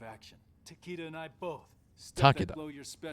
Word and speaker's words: Takeda: Takeda. That's That's how you would pronounce that, actually.